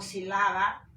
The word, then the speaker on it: sílaba: Cojo también acá la palabra sílaba. Yo no digo sílaba o sílaba, digo sílaba. Acá la fuerza de voz está en sí.